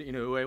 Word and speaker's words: Inoue: Inoue with the Japanese American Citizens League. It's spelled I-N-O-U-E.